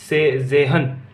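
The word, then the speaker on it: zehn: जेहन। क्या बोलेंगे? जेहन। इसमें क्या होता है? तय साइलेंट होता है।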